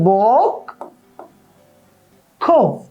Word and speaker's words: বক্ষ: আমি বললাম বক্ষ এবার এই যে বক্ষ বললাম এখানে কয় মূর্ধন্যস আছে তুমি কিভাবে খেয়াল করেছো যে এখানে মূর্ধন্য কোন উচ্চারণ নেই এবং খিও খিয়রও উচ্চারণ থাকতেছে না এটা যখন আমরা উচ্চারণ লিখতেছি তখন হয়ে যায় বক খ এই যে ধ্বনিগত বিবর্তন